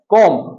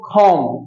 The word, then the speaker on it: comb: তো এটাকে আমরা কম না বলে বলবো খম। কি বলবো? খম।